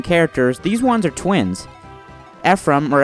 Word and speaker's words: Ephraim: Ephraim, or Ephraim as it's pronounced in Hebrew, and Erika are prince